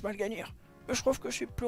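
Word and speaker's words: Mal'Ganis: Twitter et au passage moi je dis toujours mal gênir mais ça se prononce pas comme ça ça se prononce malganir je trouve que c'est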